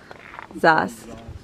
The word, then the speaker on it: Zas: all the way up Mount Zas Mount Zeus Zas that's how they say it and it was terrifying